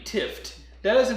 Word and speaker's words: Tifft: His name is Matt Tifft.